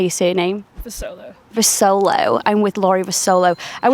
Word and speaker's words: Vusolo: Vusolo.